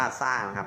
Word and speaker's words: สร้าง: ครับ ตั้ง นะ ครับ ทำ สร้าง อ่าน ว่า สร้าง อัน นี้ คือ คำ